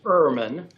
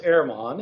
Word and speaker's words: Ehrman: of saying that uh my family says irman it originally was airmon it was a uh it was alf deutsch but uh we say irma we've anglicized it herman you're herman